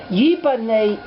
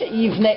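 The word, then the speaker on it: יבנה: It's not Yibaneh is it will be built. Okay? Moshe Yivnei et Beit HaMikdash. That's the way that's Yivnei. Here it's spelled the same, but it's pronounced differently. Yivnei.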